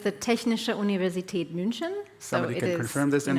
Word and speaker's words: Technische Universität München: And TUM Venture Labs, explain to me again how to pronounce it in German. Well, TUM is the acronym, but it's the Technische Universität München.